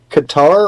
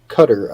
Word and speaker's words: Qatar: But apparently that is the Qatar or Cutter. I've heard it pronounced both ways. I like Qatar because it sounds like guitar, but I've also heard it pronounced Cutter.